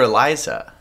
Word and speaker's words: Elisa: as ELISA ah yeah actually they call her Eliza in the movie but it's spelt with a s I've never seen Eliza